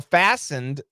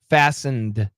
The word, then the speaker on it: fastened: use the dictionary pronounce fastened yeah so fastened obviously the t is silent like listen fasten the t is silent uh but the ending D we should pronounce it fasten fastened but many times we